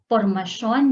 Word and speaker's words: formasyon: Formasyon ng mga... Formation. Yeah. Yes, Sean. Formation. So now you know why we say Sean, because our T-I-O-N is S-Y-O-N.